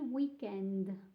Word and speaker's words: weekend: So make sure to pronounce this a bit like an Italian. So extend a bit your D with an, you have to sort of add an E. Weekend. Il weekend to sound more Italian when you say it.